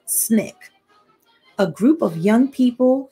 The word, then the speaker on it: SNCC: student nonviolent coordinating committee sncc pronounced snick a group of young